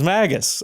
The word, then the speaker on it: Magus: like Magus it's Magus apparently and I would only